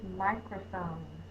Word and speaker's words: microphone: That's the long I. That's an open syllable. The vowel is long. Crow, crow, open syllable. The vowel is long. Phone. Phone. Silent E makes the O say the long sound.